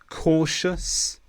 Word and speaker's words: cautious: The ending TIOUS is pronounced quite differently to how it looks. We normally say shus, ambitious, cautious, infectious.